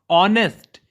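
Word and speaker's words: honest: ऑनेस्ट, ये जो ऑनेस्ट शब्द है ये स्वर है, ऑनेस्ट। ऑनेस्ट, क्योंकि यहां पे एच जो है वो साइलेंट हो गया है और वर्ड शुरू हुआ ऑनेस्ट, ओ से।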